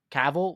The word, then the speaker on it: Cavill: I always say his name wrong. What's freaking Superman, the actor? It's Henry Cavill or Cavill? Cavill.